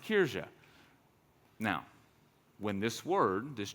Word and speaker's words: Kirche: That's not how I would pronounce it. That's because I'm not German, but apparently it's pronounced Kirche.